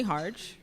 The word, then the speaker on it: Harge: My name is Harge, rhymes with charge, very simple.